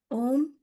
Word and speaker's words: ओम: ओम, आ, ऊ और मा ऐसे करेंगे।